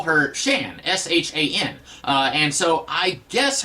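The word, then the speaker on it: Xi'an: am when I was a kid I always pronounced it zian uh because there was also a character in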